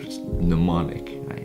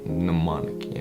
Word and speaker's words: mnemonic: mnemonic induce lucid dream n is silent in that one mnemonic mnemonic okay you got this